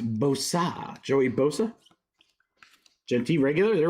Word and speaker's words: Bosa: It's pronounced Bosa.